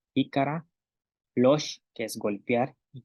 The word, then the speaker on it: lox: Tenemos palabras como luch, ícara, losh, que es golpear, y lac, que es traste.